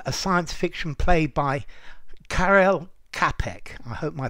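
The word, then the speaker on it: Karel Čapek: and it from a science fiction play by Carell capek I hope my pronunciations right uh and then it was taken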